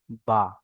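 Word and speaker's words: ب: আর দুই ঠোঁটের ভিজে অংশ হতে উচ্চারণ হয় বা।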